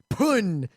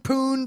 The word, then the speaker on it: pwn: why when someone said pune you know pwn for the first time in a mega tf match i was in we all pronounced it pun and in retrospect pun poon this book there may be